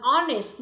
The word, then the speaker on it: honest: Hai ví dụ còn lại, an honest person, an hour. Khi chúng ta phát âm thì âm hờ là âm câm.